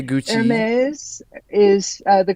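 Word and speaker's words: Hermès: second syllable yeah anyway do people say Gucci heres is the correct pronunciation is heres MHM not Hermes or Hermes okay well yeah uh see I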